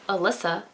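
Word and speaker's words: Elissa: our second main character alyssa i mean that's how i pronounce her name it starts with an e-l-i-s-s-a that's not what it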